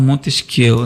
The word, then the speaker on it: Montesquieu: Nós, com bom português, falamos Montesquieu, né? Mas a pronúncia, vou dizer que é Montesquieu, que no francês você nem sempre fala as últimas letras, tendo como objetivo, ao